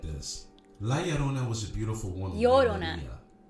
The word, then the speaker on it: La Llorona: He didn't say it right. La Llorona.